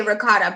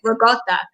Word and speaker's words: ricotta: Maybe some Italians do say ricotta, but the most Italians that I know have said ricotta. Ricotta. Yeah. So like the C is kind of like a G.